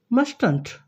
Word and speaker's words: mustn't: We pronounce in contracted form as mustn't. It's not like that. Mustn't. Mustn't. The T at the end of must becomes silent.